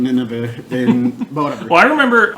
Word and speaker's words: Nynaeve: I think it's Nynaeve. Yeah. And then Austin kept on saying Nineveh, but whatever.